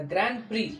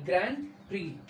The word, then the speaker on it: Grand Prix: The doctor witnessed what I call the Grand Prix, Grand, Grand Prix. X is silent, okay?